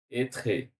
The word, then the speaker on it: être: Não tem, ele não pronuncia o E.